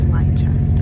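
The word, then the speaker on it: Leicester: that's just like um and it's spelled like they call it Lester in Boston I love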